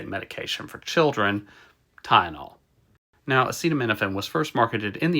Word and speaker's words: acetaminophen: drug that Donald Trump so incompetently tried to pronounce is acetaminophen it's also called paracetamol in Europe and since